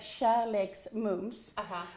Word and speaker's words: Kärleksmums: We have this peculiar thing with little dots over our A's and O's, that's right. and that's an A. So if I'm going to pronounce, I'm going to say Kärleksmums.